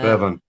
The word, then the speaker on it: Revan: Knights of the Old Republic introduced Darth Ravin, which was your player character. Revan.